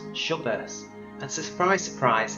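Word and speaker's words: Dschubba: scorpion star the star's first name itself is pronounced shovers and surprise surprise it's yet another b-class star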